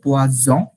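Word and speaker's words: poison: এটা বিষ হচ্ছে পোয়াজন, জ দিয়ে, বর্গীয় জ দিয়ে পোয়াজন। পোয়া জ, হ্যাঁ এটা হচ্ছে বিষ, পয়জন।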